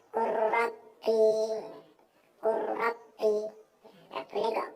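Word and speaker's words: قُلْ رَبِّ: Contoh lam bertemu ra, Qul Rabbi, gak boleh bacanya gitu, gak boleh. Akan tapi bacanya Qur Rabbi, Qur Rabbi.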